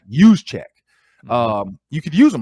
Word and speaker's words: Juszczyk: Is it Chiswick or Juszczyk? Juszczyk.